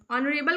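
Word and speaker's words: honourable: तो याद रखिएगा यहां पे आर नहीं होता है। इसकी स्पेलिंग याद रखिएगा एच ओ एन एपॉस्टोफी हो जाता है। बी एल इ वो होगा साइलेंट हो जाता है वहां पे।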